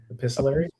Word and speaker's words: epistolary: Epistolary.